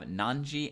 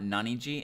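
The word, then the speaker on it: 何時: Well, in Japanese, we have nanji and nanpun for that. Notice that it is not naniji and is not nanifun. It is nanpun and nanji. That is the correct way to pronounce that.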